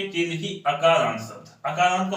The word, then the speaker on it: अकारांत: अगर हमें आ पढ़ना है, ठीक है, अगर हमें आ पढ़ना है तो हम वहां पे छोटा आ को हम छोटा आ नहीं पढ़ते हैं। अगर इसको हम ऐसे पढ़ेंगे तो इसका सही उच्चारण नहीं मानेगा। इसको हम पढ़ेंगे अकारांत। क्या पढ़ेंगे?